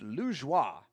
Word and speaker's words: Lajoie: I was trying to Americanize it, but it is pronounced Lajoie.